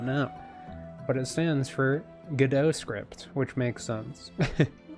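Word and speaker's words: Godot: Yeah, I say go do GDO cuz it's like go and then dot. So I just keep wanting to say go do but it's supposed to be pronounced GDO and I'm just like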